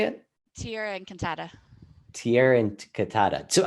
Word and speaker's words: Tierra Encantada: So talk a little bit about the company you have, Terra Enchanta. Is that how you say it? Tierra Encantada.